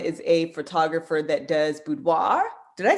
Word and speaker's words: boudoir: a photographer that does boudoir did i say that correctly um you can pronounce it boudoir or boudoir i mean i think it's like the french word is like with no r okay um and so